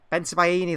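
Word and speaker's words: Bensebaini: tomorrow's just over here ben sabahini that's his name that's how you say it ben sabahini the fullback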